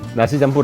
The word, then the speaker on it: Nasi Campur: Nasi Campur (pronounced Nasi Champoor) ready?